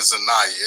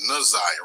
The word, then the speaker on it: Na'Ziyah: the wrong name wrong I keep saying zayah it's naziah right theend naziah okay right